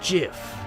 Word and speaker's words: GIF: It's pronounced GIF. Huh? .gif, like the peanut butter.